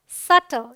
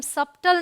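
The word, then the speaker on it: subtle: date ये है doubt ये है सटल इसे हम सबटल नहीं पढ़ते इसे हम डाउट नहीं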